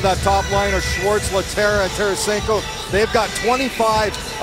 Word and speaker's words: Lehtera: Lehtera is a Finn who has changed his pronunciation to a more North American version of Lehtera.